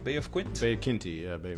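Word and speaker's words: Quinte: or Ryan Williams the conservative in Bay of quinty is that how you say it Bay of Quint Bay of kinty yeah Bay of B of kinty okay and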